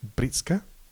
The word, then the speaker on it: Breetzke: I think Bretsky as well. He's not scored around. He's averaging 15 this year, but he. Is that how you say his name? Britska. Yeah, Breetzke.